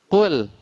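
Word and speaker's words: قل: Di sinilah wajib tipis, tidak boleh atau wajib lemah. Kul, tidak boleh kita tebalkan terpengaruh dengan huruf qaf. Ataupun misalnya ini diganti dengan huruf kaf, tapi tetap harokat dhammah kul. Tetap maka lam ini dibaca tipis. Tidak boleh tidak boleh kuat atau tebal.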